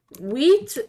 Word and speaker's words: wheat: I know it's spelled with an H. I pronounce it wheat. I've always been pronounced as wheat, and I can't say the H and the W. Bruh, I can't say the H and the W properly.